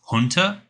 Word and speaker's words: junta: Before we say anything, did I say junta right? I believe so. Junta? The proper pronunciation is junta, and it's a military